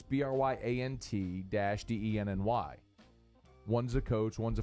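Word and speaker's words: Bryant–Denny: All right, Shelby Kelly, ask us, is Bryant Dennehy Stadium our house from now on? No, listen, Shelby, you don't spell it BRYANDENNAHEE. It's BRYANT-DENNY.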